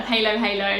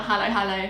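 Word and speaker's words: halo-halo: mix it all up we call it halo halo on the vlog yeah halo halo not hello hello so that always uh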